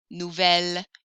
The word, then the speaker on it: nouvel: If your mouth is open and the next word starts with a vowel, I'm going to need to fix that with belle, nouvelle, vieille. instead. That pronunciation error doesn't happen